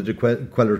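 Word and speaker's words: Cuéllar: it takes you on the cuellar trail or the the quail trail if you were to give it to the correct pronunciation uh a part of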